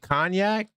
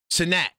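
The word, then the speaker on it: Cenac: He said he said Cognac? Sinac. Okay, now I know how to say it right. Sinac.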